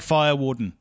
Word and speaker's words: Farr-Wharton: totally get it also you mispronounced my surname oh really yeah it's it's fire warden I'm buying the yep